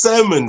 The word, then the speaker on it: salmon: No, it's salmon. Salmon, not salmon. Yes, the tail is there, but you don't pronounce it. It's silent.